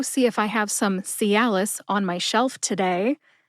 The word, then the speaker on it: Cialis: if I have some Calis on my shelf Today l as in alcohol and Liss which rhymes with kiss put it all together